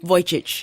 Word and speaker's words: Vujicic: Yes, but how did you pronounce the last name again? Vujicic.